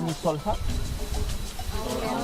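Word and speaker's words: Misol-Ha: ¿Pasaron por Misolja? ¿No? ¿Van para allá? Misol, caídas, ja, es agua. Así que cuando vean palabras con terminaciones DHA se pronuncia ja y nos representa agua.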